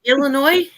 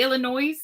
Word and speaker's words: Illinois: she's so much to Illinois Illinois because I pronounced the yes it had an s on the end it does it does but it's silent oh how precious but